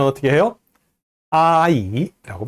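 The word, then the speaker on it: 阿姨: 부를 땐 어떻게 해요 아이 라고 발음합니다 i 앱 보여주세요 이모 또는 아줌마 란 뜻이에요 아 이 했죠 자아 아이라고 이름 절로 발음하면 안돼요 아 아 아 이 라고 할 때 끊어서 발음해야 됩니다 요 부분도 앞서서 음절이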